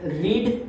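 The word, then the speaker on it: read: रीड, तो उसका past tense करेंगे तो स्पेलिंग उसका सेम होगा, रीड, लेकिन उसको हम पढ़ेंगे कैसे, रेड बोलेंगे, रेड, रीड का पास्ट फॉर्म रेड आता है, स्पेलिंग सेम।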